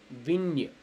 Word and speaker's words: vigne: GN is actually pronounced as nya. We have the Hindi word anya, right? So like that, like vigne, or gagne, like that.